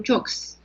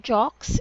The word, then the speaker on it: jokes: word this is not Jaques it's jokes oh very good like shows oh okay they're very